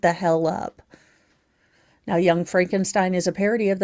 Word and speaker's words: Frankenstein: It stars the late, great, and comedic genius Gene Wilder as scientist Frederick Frankenstein, pronounced Frankenstein, the grandson of the great reanimator extraordinaire Victor Frankenstein.